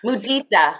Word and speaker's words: mudita: Mudita.